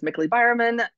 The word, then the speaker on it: Mikalee Byerman: or my resume is my name is mickley byerman which rhymes with prickly firemen because that just makes